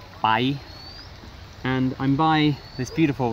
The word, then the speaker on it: Pai: it's spelled pie as in Pai but it's pronounced by and I'm by this beautiful river where there's